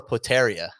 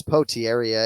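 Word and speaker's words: Potieria: name julius patera yeah so it's potee area it's spelled e-r-i-a yeah right one of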